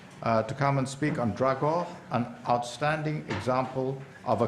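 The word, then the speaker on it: Dragør: We'll now leave Finland and go to Denmark, and I will ask Erik Vind to come and speak on Dragor, an outstanding example of a community effort to preserve a historic town.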